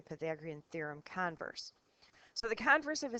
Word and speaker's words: converse: but in math the converse the the accent is on the front part of the word the converse means the opposite so